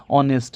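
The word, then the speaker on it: honest: ही is dash ऑनेस्ट मैन। अब देखिए ऑनेस्ट है। ऑनेस्ट नहीं है। यहां पे एच जो है आपका ये साइलेंट है। अनस्ट्रेस्ड है। इसमें किसी भी प्रकार का स्ट्रेस नहीं है। साइलेंट है।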